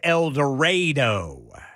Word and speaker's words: El Dorado: Well, El Dorado in Arkansas is El Dredo.